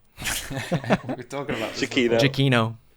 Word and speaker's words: Giacchino: We were talking about this Giacchino. Giacchino.